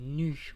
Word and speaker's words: Nü: Et en gros, ma série s'appelle Nu ou Nous, l'être éternel. Il y a deux prononciations comme ça, vous vous prenez pas la tête.